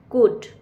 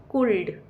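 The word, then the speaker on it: could: यू एल डी कुड कुड में L letter जो है वह साइलेंट है। यानी कि एल का साउंड हम मुंह से नहीं बोलते। यह एल यहां पर चुप रहता है। सो सी ओ एल डी कुड ना कि कुल्ड सी A double L call.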